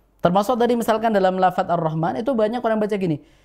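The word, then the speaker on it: الرحمن: huruf ro fathah ini dibaca tebal jadi kita bacanya Arrahman bukan arrah begitu oh bukan tipis Arrahman tapi tebal ar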